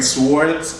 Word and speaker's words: swords: of the way, but I prefer saying swords. I just feel like it's stupid not to pronounce the W, but hey, what is English?